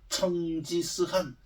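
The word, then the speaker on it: 成吉思汗: 동포는 한마디로 징기스칸 같아 중국 발음으로 천지스한 징기스칸 같다 전 세계를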